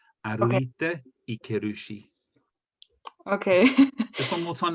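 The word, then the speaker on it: 歩いていけるし: Sorry, Annika, I'm just going to just up your pronunciation. That's 歩いていけるし. So you have to really hit every syllable.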